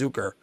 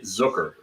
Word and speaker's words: Zucker: always hear it's called I always hear him pronounce zuker not Zucker but it I it's Zucker yeah oh it's Zucker that's how I've heard